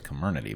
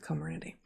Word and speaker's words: Comirnaty: Comirnaty, which I also never know how to pronounce, the Pfizer vaccine. I thought it was Comirnaty, but... Comirnaty? Okay, I'll start over. I'll go with Comirnaty.